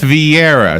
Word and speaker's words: Vieira: Meredith Vieira, is that how you say her name?